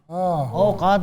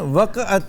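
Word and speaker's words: وقعت: औकात ये गलत है। उसकी औकात नहीं है, बेसिकली है वक़्त। वक़्त इसका एक्चुअल प्रोनाउंसिएशन वक़अत है, यानी बोला जाता है वक़अत, लेकिन वक़्त वक़अत।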